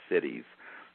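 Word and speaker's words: siddhis: what have been called the cities that s d d h i s is how that's spelled in theic Tradition to make contact to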